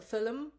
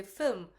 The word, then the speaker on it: film: let you know that in the US we don't say fil film we say film because some Indians pronounce film as film and he knew I